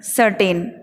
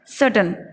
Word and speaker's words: certain: आर को silent करके बोलना है हमें सर्टन। क्या बोलना होगा? सर्टन, निश्चित रूप से, यानी निश्चित को बोलते हैं सर्टेन, और हमें इसका सही उच्चारण करना होगा सर्टन। तो नेक्स्ट टाइम हम सर्टेन नहीं कहेंगे, हम कहेंगे सर्टन, निश्चित।